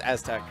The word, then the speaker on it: ATEOZC: How do you pronounce ATEOZC? That's Aztec. Aztec. Yeah. It's just in such a weird order.